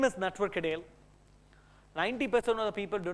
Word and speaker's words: Natwar Kadel: most of the time my name is pronounced was wrongly I'm actually network Adel I born and raised